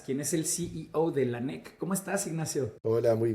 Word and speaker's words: Lanek: precursor o como premisa se pronuncia lanc o lanc la empresa es una buena pregunta porque nosotros hicimos lanec pero ahí me puedo ir por el lado de dónde viene lanec viene de René lanec que es otra un apellido ahí les puedo contar después cuando entremos más por qué nos llamamos así Y ese sí creo que se pronuncia lanec Así que un poco a gusto consumidor pero en general lanec hasta el anex no han